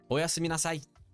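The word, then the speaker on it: おやすみなさい: Arctic, make sure you pronounce the O properly this time, okay? And Black Star, make sure you pronounce the me. Don't forget the me part, right? Okay. And Dev, you have to say nasai, okay?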